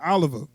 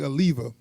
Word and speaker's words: Oliva: Oliver now I did not like which his name is actually a lever so I'm gonna say it right they kept saying his name wrong now he's based off